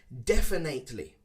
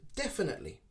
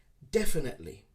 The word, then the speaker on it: definitely: many people pronounce it definitely definitely again we don't use the eight sound okay it's more an i sound definitely definitely is the correct way